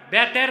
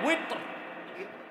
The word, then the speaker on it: উইতর: 3 রাকাত বেতের না উইতর। এটার উচ্চারণ আমরা ভুল করি, বলে বেতের। বেতের শব্দ আছে নাকি?